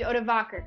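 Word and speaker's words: Odovacer: And the leader of these Germanic mercenaries was a man named Odovaker. And that is spelled like this. Add that to your list of baby names. O-D-O-V-A-C-E-R. Probably a good name for a fish. Odovaker marched on Ravenna and met Orestes in battle in North Italy.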